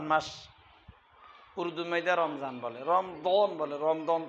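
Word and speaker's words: رمضان: রমজান বলে।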